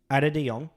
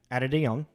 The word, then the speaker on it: Ate de Jong: by uh uh I looked up how to pronounce this let's see if I remember adong yeah adong uh he's a Dutch film director filmmaker really